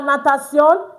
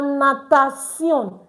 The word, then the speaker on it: natation: La natation. T-I-E-C. C. C. It's not T. Please take note. T-I is pronounced as C, not T. So that's why it is la natation, not la natation.